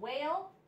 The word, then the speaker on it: whale: who w h and whale the W is the sound the H is silent the w h and